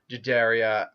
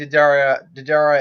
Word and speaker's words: Deidara: them, and I think Didara and Deidara, I think I'm calling him Deidara because I think that's how it's pronounced.